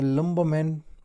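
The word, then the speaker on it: lumberman: अच्छा ही was known as अ लंबोमैन poets. ठीक है? अ लंबोमस पोएट। लंबोमैन में जो है ना हमारे पास आर साइलेंट है।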